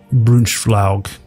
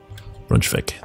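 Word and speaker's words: Braunschweig: Claim Brunschflaug. I know I totally pronounced that wrong. Fabricate claim. Brunschvik.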